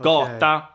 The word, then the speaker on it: gata: Well, the default pronunciation of G or G is exactly that, G, the voiced G sound.